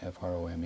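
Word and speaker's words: Frome: torch from pronounced or spelled from f r o m e.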